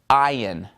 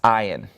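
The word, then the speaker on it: עין: After samech, we have the letter ayin. Ayin. It's pronounced just like the Zion. Remember the letter Zion? Okay? Except it's without the Z. It's ayin.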